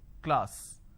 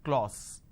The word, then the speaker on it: class: sound ah another example the word is class and the pronunciation is K Le ah sir class this is how the pronunciation is but people make a mistake they say Le all so instead of saying class they end up pronouncing this as clause okay now why does